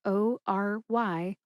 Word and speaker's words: Ory: That's spelled O-R-Y, Ory Park.